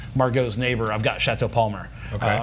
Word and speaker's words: Palmer: Like if you want to go right to Margaux's neighbor, I've got Chateau Palmer. Okay. Or Palmer to be pronounced correctly, but here in America it's Palmer.